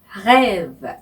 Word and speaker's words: rêve: 네, 첫 번째 자음인 R 그러니까 프랑스어로는 R라고 부르는 이 R의 발음이 하기가 힘드실 거예요. 네, 한국 사람들이 제일 힘겨워하는 발음인데요. 네, 아침에 가글 하실 때 목구멍에서 하시잖아요. 네, 이 목구멍에서 나오는 이 소리가 바로 R의 발음입니다. 그죠? 네, 그래서 rêve, rêve 이렇게 발음하시면 됩니다.